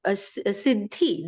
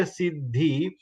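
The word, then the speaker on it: सिद्धि: But when we pronounce, we say Sid, the is half, and the is pronounced full.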